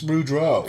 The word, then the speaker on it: Boudreau: Okay, for those of you listening, and just in case you're wondering, it's Bruce Boudreau.